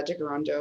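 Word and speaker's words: Tkaronto: i am in uh de garando which is the mohawk pronunciation for toronto um and i always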